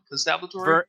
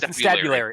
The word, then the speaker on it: Constabulary: Constabulatory? The Vernon Constabulary. Constabulatory? No, there's no T. There's no second T, rather. The Constabulary.